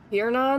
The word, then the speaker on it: Tiernan: Tiernan, that's how it's pronounced.